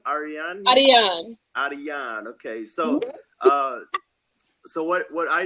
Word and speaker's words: Ariane: How do you pronounce the name? Ariane? Ariane.